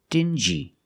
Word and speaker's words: dingy: example dingy and stingy these two words have the regular n Sound um like juice together stin G together stingy or din G together dingy this wall is very